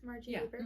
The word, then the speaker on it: Margie Haber: Is that how you pronounce Margie Haber?